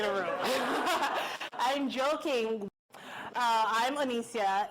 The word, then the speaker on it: Onicia: please welcome Onicia Muller. Wow. So many masked people in a room. I'm joking. I'm Onicia. It's like Alicia, but instead of an A-L, you spell it O-N-I-C-I-A.